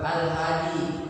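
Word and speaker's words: الهادي: Oke contohnya is manus Al bacanya yang benar Alhadi Oke Maru e muqadar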